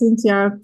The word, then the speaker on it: Cinzia: Cindy is Cinzia in Italian. Because I'm Cynthia. My Yes, real name's Cynthia. Okay. I'm gonna. is So I'm half Italian. Now I want to spell it like that. it's the name, yes, Cinzia, and TH in Italian is a Z like zebra.